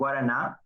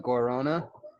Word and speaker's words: Guaraná: In American English, we call it guarana, and they put it in all the energy drinks.